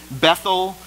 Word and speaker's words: Bethel: a hill located between Bethel in hayi so he finds a high spots right between Bethel and a Bethel and the Hebrew is pronounced beth-el it means the house of God an AE means heap